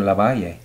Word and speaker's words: LaValle: Dominican well no so my name is Victor Laval it's got and soon Gaussian Heights my name is Victor La Vie a question that's how it's pronounced yeah you know and so up there